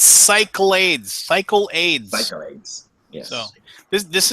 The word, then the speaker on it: Cyclades: Pronunciation. Okay. I mix everything up in my head. I am a screwball cyclade of milkshake in my head. It's Cyclades.